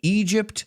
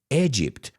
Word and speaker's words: Egypt: Now, I'm not going to teach you how to pronounce Ecuador, but Egypt, I've heard a lot of students say Egypt. Just think of the song. Walk like an Egyptian. It's Egypt, como I latina.